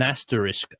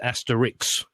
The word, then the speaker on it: asterisk: a bit like an asterisk I start to sound like the fool now because I say asterisk and everybody says Asterix oh ok yeah asterisk